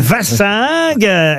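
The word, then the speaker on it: wassingue: vach S mais c'est non c'est V c'est ven la prononciation vassing effectivement c'est du picard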